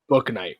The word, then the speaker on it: Bouknight: So tell me if I'm getting this name wrong, because I know he's on the Hornet. Is it James Bouknight or Bouknight? Bouknight.